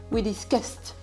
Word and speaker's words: discussed: Vous voyez que le verbe discus se terminant par le son s. Et bien le ed va se prononcer te. We discusted.